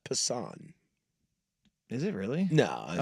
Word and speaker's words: Passan: Um I'm going to read just these uh this quick little blurb from uh Jeff Passen in his ESPN article. Uh it's pronounced Passan.